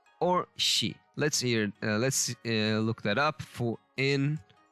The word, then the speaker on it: 四: Shi.